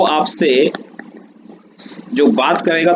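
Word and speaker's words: je: French में क्या कहा जाता है, ये इस चीज में इस सेक्शन में पढ़ने वाले हैं। आई को कहा जाता है ज, प्रोनाउंसिएशन होता है इसका आधा ज और श, ज, ये होता है त्यू, टी यू, त्यू।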